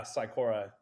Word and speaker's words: cycora: So, um your signature product at the moment is Sikora. Have I pronounced that correctly? Yeah, Syikora.